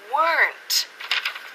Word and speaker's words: weren't: Pero no saben que se pronuncia weren't. Dilo conmigo en casa. Se pronuncia con una sílaba.